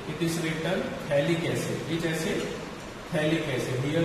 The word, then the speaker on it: phthalic: So common name, it is written phthalic acid. Which acid? Phthalic acid. Here P is silent. So you can write here phthalic acid, not pithalic acid.